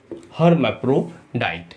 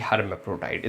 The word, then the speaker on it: hermaphrodite: हर्मैफ्रोडाइट, HERMAPHRODITE, हर्मैफ्रोडाइट।